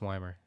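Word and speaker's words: Wiemer: yeah um if it is it Joey Weimer or Joey Weimer you know like a German name uh when I had the game on last night they said Weimer it's Weimer okay um I mispronounced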